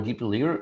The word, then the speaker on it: dplyr: I think the most correct way to pronounce it is dplyr, because the previous version of this package was called plyr, and it's something like a part of word apply.